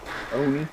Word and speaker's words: Oni: All right, we got Alex, also known as Oni. How do you say it? Oni.